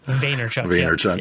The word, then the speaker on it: Vaynerchuk: Gary Vaynerchuk, I think is how you say his last name. Vaynerchuk.